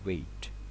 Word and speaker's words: wait: Wait in the car นะครับตัวนี้ให้อ่านว่า wait นะครับ W A มาก่อนแล้วก็ I T แยกข้างหลัง wait นะครับถ้าหลายคนไปใช้คำว่า waitความหมายตัวนี้กับฝรั่งได้ยินเนี่ยก็จะกลายเป็น WET นะครับต่างกัน Wait นะครับ Wait put the